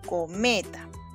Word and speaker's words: cometa: Ahora sí, vamos a ubicar la sílaba tónica. Co-me-ta. ¿Cuál será? Vamos de nuevo. Co-me-ta. ¿Cuál será la sílaba tónica? La más fuerte. Muy bien, es me. Ya está. Y como esta es la sílaba tónica, entonces co y ta serán sílabas átonas.